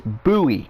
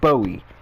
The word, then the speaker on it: Bowie: It's Bowie, not Bowie, not like David Bowie, though he was a good musician. It's Bowie, like a buoy.